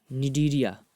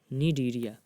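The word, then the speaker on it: Cnidaria: अगला है निडीरिया। ये सी से शुरू होता है लेकिन सी साइलेंट होता है। निडीरिया, ये जलीय जीव होते हैं, एक्वेटिक।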